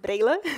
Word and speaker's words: Breylla: My name is pronounced Breylla in Portuguese, so it's really difficult also for Brazilians to say my name, so it's okay.